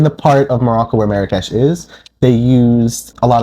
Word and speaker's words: Marrakesh: In Darija or Arabic, Marrakesh would be pronounced Marrakech, but I don't believe it has any actual meaning behind the redness of it.